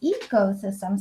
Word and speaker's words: ecosystem: also um the word ecosystem so this has a long e ecosystem equal yeah perfect very